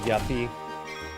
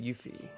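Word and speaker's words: Yuffie: I also haven't gotten Yuthi. Did anybody else pronounce her name as Yepy back in the day? Cuz I sure did.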